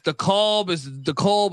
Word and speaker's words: DeKalb: You get some games out there in DeKalb, and I feel like I always say it incorrectly. The fans tell me it's DeKalb.